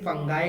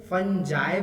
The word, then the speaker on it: fungi: फंगी बोल सकते हैं, फंजाई बोल सकते हैं या फंगाई भी बोल सकते हैं, ठीक है। जिस तरीके से आप प्रोनाउंस करना चाहें उसको कर सकते हैं, कुछ भी इसमें से गलत नहीं है।